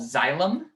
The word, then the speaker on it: xylem: the first are called xylem kind of like xylophone spelled like this xylem